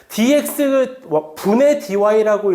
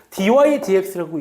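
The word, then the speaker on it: dy/dx: dx 분의 dy라고 읽는 게 아니라 얘는 원래는 dy dx라고 읽는 거예요. 정확한 명칭은.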